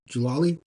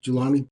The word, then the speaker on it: Julani: there was a serious in um I can't pronounce his last name jalali jalani julani yes um you know fighter crucifying a Christian